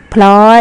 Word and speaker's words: พลอย: อ่าน ว่า พลอย มี คำ นี้ มี พยัญชนะ ต้น สอง ตัว คือ พยัญชนะ พ. พาน และ พยัญชนะ dorrit ค่ะ เวลา อ่าน ออก เสียง จะ ต้อง แปรง เสียง ออก มา ที เดียว พร้อม กัน เลย นะ คะ อา ข่า